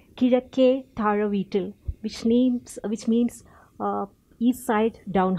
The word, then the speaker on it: Kizhakke: It's a Malayalam last name, and because I'm from the state of Kerala, okay, in the southern part of India, and it's pronounced as Kizhakke, which means east side down house.